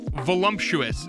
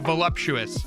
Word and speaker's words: voluptuous: people pronounce pronunciation wrong I've heard so many people say volumptuous instead of voluptuous that for a moment I thought I had it wrong but no volumptuous is not a word folks you're adding an entirely